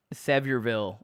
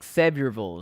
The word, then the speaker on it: Sevierville: How do you say Sevierville like a native, or even Knoxville, the city where UT is? So yeah, there's no vills in Tennessee. It's vull. I think so. Knoxville is Knoxville. I think Sevierville is like that.